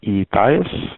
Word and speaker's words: Ethias: My name is Ethias. That's spelled E as in Echo, T as in